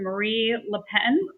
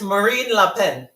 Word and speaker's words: Marine Le Pen: Is it Marie Le Pen? I think it's Marine Le Pen.